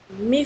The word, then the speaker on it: my: Esse meu, a gente sempre, por mais que se escreva MY, a gente sempre tende a pronunciar my, tá certo?